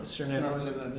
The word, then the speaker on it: Svirneblin: Svirneblin.